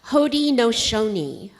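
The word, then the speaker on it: Haudenosaunee: a great Confederacy and this is how you pronounce what we're talking about today hod nooni can you say that h no and it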